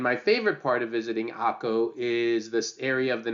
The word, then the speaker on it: Akko: Number four is one of my personal favorites, a place called Akko. I know it's spelled Acre, but we oftentimes pronounce it Akko.